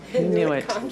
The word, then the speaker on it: Inuit: How do you pronounce that? Inuit? Inuit, yes.